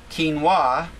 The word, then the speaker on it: quinoa: And it seems like the Peruvian grain quinoa is has high amounts of all 8 amino